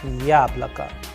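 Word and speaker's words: яблоко: However, this sound you will find exactly in the word yablaka, yablaka, which means apple. And in this example again, you can also see the role of udareni or stress is coming. For example, the first vowel Ya is having the stress or the udareni on, and the rest of the sound of the vowels, that is O, and O after letter K is coming as A. So yablaka.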